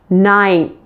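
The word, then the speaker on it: ninth: sound before the th you'll actually pronounce the final n in those words with your tongue sticking out as we're getting closer to making the th so take a look here 9 10 did you notice my tongue is out when I'm pronouncing the N and the th so that makes it pretty easy doesn't it you can easily combine the end and the th because your tongue is out for both now let's do that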